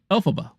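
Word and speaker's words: Elphaba: they do um oh that is how you pronounce alphaba Alaba look at that I pronounced the name right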